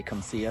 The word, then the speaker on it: Kumsiya: it in the US, I say Kumsiya. It's like you're saying, hey, I'm gonna come see ya.